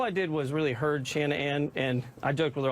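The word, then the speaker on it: Shan'ann: Well, here's what I'll say, because ever since I knew her, it was always Shanann, like, and I'd break it up into 2 syllables and 2 separate things, you know.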